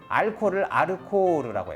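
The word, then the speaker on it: アルコール: 자, 그 다음 알코올을 아르코르라고 해요. 코가 장음입니다.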